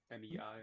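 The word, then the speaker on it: 美: Mei, the one that you're Mei, M-E-I, Mei.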